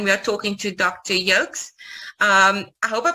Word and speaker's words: Yoks: i i know they they call you dr jokes am i right yes they call me dr yocks my name is